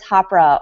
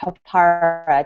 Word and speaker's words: Hapara: Jan, do you want to give the listeners and readers a quick overview of what is Hapara or Hapara, depending on where you live, how you pronounce it? Hapara.